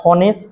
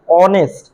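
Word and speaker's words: honest: তুমি যখন এই শব্দটার প্রোনাউন্স করো, উচ্চারণ করো, সাউন্ড করো তখন কিন্তু এটা হনেস্ট না। এই শব্দটার প্রোনাউন্সিয়েশন কি? অনেস্ট। এটা হচ্ছে অনেস্ট।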